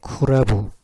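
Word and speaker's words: 倶楽部: 이걸음을 쿠라부라습니다 쿠라부 쿠라부 이거는 영어의 클럽 클럽을 클럽을 일본으로 옮길 때 이렇게 옮겨 놨습니다 라브라 놨습니다 라브 그니까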